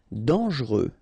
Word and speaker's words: dangereux: Dangereux, final X not pronounced, and then don't really pronounce this E here, okay, so you get dangereux.